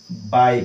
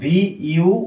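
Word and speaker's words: buy: बाई बुझि पारेले याको केते जण बाय बोली कहंती बट इट is incorrect बॉय बॉय एमिति कहंती बोधे बट सेडा इनकरेक्ट अटे भूल अटे तार उच्चारण भूल एक्चुअली एडा कोन हबो एई वर्ड भली ही हबो बाई एडा को मध्य बाई याको बाई बाई एडा मध्य सेम उच्चारण याको मध्य सेम उच्चारण करा जिवो बाई माने किनिबा ओके सो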